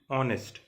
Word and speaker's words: honest: And honest sounds like honest, ONEST, though H is over there, H is again silent over here, so this is giving a vowel sound.